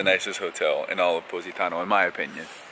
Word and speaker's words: Positano: We figured out that's how you say it. Someone DM Positano. Courtney. Positano. Like cozy, but posy. Positano. Positano.